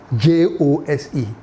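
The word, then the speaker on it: José: So if you call when you see Jose, you think it's spelled H O S E, but the Spanish, they spell it J O S E.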